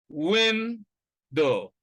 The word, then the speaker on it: window: The first syllable contains the stress, win, and the second one is unstressed, do, window.